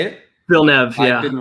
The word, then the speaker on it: Villeneuve: Villeneuve, yeah.